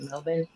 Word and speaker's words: Melbourne: i were to go it's spelled melbourne but they pronounced it melvin yeah um if i